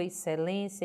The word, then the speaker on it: excelência: excessivo e não exceção excelência excêntrico não pronuncio x e os e como se fossem sons distintos é o único som é um dígrafo são duas letras mas que tem o som do s ok veja mais agora